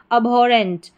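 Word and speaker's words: abhorrent: ए बी एच ओ अब हो और रेंट double R इ एन टी रेंट। अबोरेंट अबोरेंट यह इसका उच्चारण हो गया।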